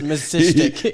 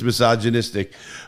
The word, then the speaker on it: misogynistic: Misistic, yeah. He was pronouncing it wrong. It's misogynistic.